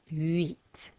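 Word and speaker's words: huit: so let's try those sank seas set wheat from the beginning ah dude ha cat sank cease set meet did you remember not to say the silent letters so there they all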